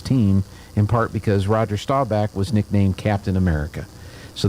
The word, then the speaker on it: Staubach: Okay, Staubach.